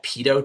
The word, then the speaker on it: pitot: This image right here is of a small pitot tube that's spelled P-I-T-O-T.